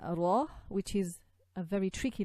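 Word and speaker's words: ر: And you have to be careful with this this letter, because we do not want to trill the ra too much. What happens sometimes when you focus too much on the ra, it can sort of trill and give too much of a roll, and that's not right.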